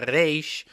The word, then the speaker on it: reish: Spanish-speaking people, they pronounce the reish from the mouth. We in Hebrew pronounce the reish from the throat, so that's the main emphasis.